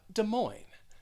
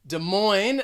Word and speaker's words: Des Moines: to the capital of iowa and we have des moines des moines the stress is going to be on that